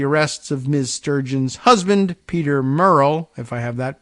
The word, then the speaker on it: Murrell: independence after the arrests of Ms sturgeon's husband Peter Murrell if I have that pronunciation correct m-u-r-r-e-l-l the party's former Chief Executive